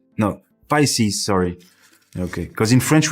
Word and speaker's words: Pisces: How do you say pieces? No, Pisces.